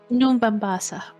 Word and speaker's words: New Mombasa: How you pronounce the place again? New Mombasa. New Mombasa.